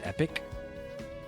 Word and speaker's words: epoch: You think Epoch is pronounced epic?